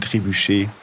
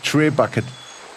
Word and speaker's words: Trebuchet: Aber ist es nicht ein Trebuchet? Ja. Ich hab gedacht, das heißt Trebucket. Ja, ich hab das Englische mal in meinem Kopf ausgesprochen, wie dem Bucket.